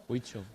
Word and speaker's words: Huichol: Huichol.